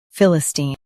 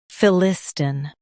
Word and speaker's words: Philistine: Now, let's focus on British pronunciation of this word, Philistine. Now, read the syllables of British pronunciation shown on the screen naturally. Phil, I, Stin, Philistine, Phil, I, Stin, Philistine. Emphasize Phil. Keep Steen smooth.